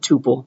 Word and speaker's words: tuple: things but everybody pronounce all the cool kids pronounce it Tuple so that's how I learned it that's how